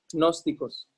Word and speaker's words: gnósticos: Que se escribe gnósticos, pero con una G al principio, gnósticos.